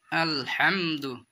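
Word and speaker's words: الحمد: শুনবেন দেখেন বন্ধু সকল আলহামদু এখানে বড় হা আছে বড় হা উচ্চারণ করতে হবে আলহামদু লিল্লাহি রাব্বিল রব্বিল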